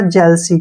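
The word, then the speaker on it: jealousy: क्या हो गया स और वाई का जो उच्चारण है वो ई के रूप में करेंगे य हो गया हमारा जलसी क्या हो गया जलसी जलसी मींस क्या होता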